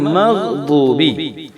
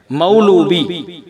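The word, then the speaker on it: مغضوب: அதே போல மக்லூபி அப்படின்னு படிக்காம மக்தூபி. இப்ப நம்ம என்ன சொல்லிட்டு வரோம் அப்படின்னா, இந்த அரபி எழுத்தை எப்படி உச்சரிக்கணும் அப்படிங்கறத நம்ம பார்த்துட்டு வரோம்.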